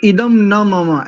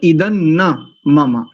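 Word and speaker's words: इदं न मम: वेद से इदन ममा कुछ लोग इदम न ममा ऐसा करते हैं इदम न म यह ठीक नहीं है सही उच्चारण तो इदन ममा ऐसा ही करना चाहिए एक बार पूरे मंत्र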